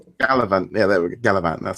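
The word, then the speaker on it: Galavant: um Castle um gav or how do you pronounce that one gallivant gallivant yeah there we gallivant that sounds a bit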